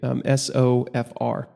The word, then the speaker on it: SOFR: It's pronounced or abbreviated SOFR, and I think a lot of people just call it SOFR.